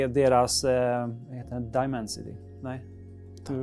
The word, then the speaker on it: Dimensity: Dimensity? Nej, hur uttalar man det? Jo, Dimensity. Jag har aldrig uttalat det ordet tidigare, men Dimensity 1200 AI som är då MediaTeks flaggskeppssensor.